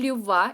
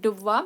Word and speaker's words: Dubois: Now it is stated here is that Raphael Dubois 1885 to 1887 French physiologist performed pioneer experiments. Now one thing which is important to note here is that we have to pronounce it like Dubois, not Du Bois.